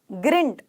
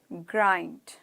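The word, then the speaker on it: grind: रहे हैं ठीक है ग्रंट ग्रंट मैं बोलू ग्रंट ठीक है सो ग्रंड ना ग्रंड ग्राइंड ग्राइंड ग्राइंड पीसना मम्मी मिक्सी में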